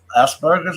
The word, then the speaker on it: Asperger's: My nephew's son my sister's kid has Asperger's. I think you said. Is that how it's pronounced? Yeah.